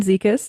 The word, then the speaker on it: Zekis: So, um I'm Zikas. is short for. I think that usually helps people with the pronunciation.